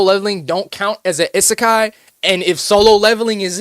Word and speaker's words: isekai: Is anime isseekai. I be saying this wrong all the time. All right. Best isekai.